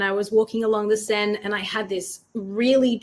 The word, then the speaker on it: Seine: Now, I know that many people in Western-speaking countries say like the Seine, which is the river in France, but it is pronounced the Seine.